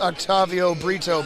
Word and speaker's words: Octavio Brito: As far as I know, his name is pronounced Octavio Brito, but I mispronounced it, I believe, and then Dave picked up on it, and I apologize.